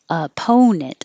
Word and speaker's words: opponent: Opponent, another O as the stressed vowel.